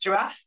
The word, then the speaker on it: ggiraf: the ggiraf package, or the logo makes me think that maybe it should be pronounced giraffe. People pronounce it in different ways, but there's also a function inside it that is ggiraf giraffe. So who knows? I'm going to call it ggiraf, and you can take